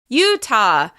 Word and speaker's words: Utah: Utah. Once again, this state is stressed on the first syllable.